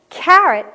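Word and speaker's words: caret: carat or 24 karat carrot c-a-r-r-o-t is the orange vegetable the one that you know we chew on and c-a-r-e-t also pronounced carrot is a proofreader's mark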